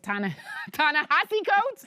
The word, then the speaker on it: Ta-Nehisi Coates: We'll be right back with Ta-Nehisi Coates.